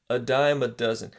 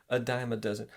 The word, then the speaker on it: a dime a dozen: confusing but let's look at some examples so a dime a dozen that's the pronunciation okay guys a diamond doesn't don't separate don't don't read a dime a